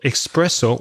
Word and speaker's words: espresso: mistake so be careful don't write express what espresso with an X because sometimes I make the mistake of writing expr e SS oh it's es so it's espresso now Craig an important